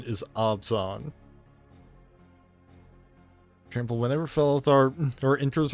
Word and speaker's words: Abzan: Belothar, Dawn of the Abzan. Abzan. I've pronounced it Abzan for years.